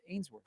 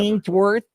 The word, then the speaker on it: Ainsworth: How did you uh pronounce Ainsworth? my my Chicago accent shined through and I went with like Answorth or whatever. Answorth.